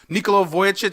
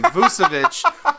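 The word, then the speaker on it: Vučević: Nikola Vujicic, am I saying it right? I think I'm pronouncing it right. He's the big man down there in Orlando. I thought it was Vucevic. No. You're right. It's Vucevic. Okay.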